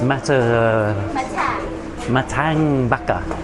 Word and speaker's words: Mata ng Baka: How do you pronounce this? Mata ng Baka.